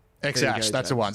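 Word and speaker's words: X Æ A-12: X-Ash. What did you say, Mia? No, that's just the kid's name is X-Ash. X-Ash, go, that's the James.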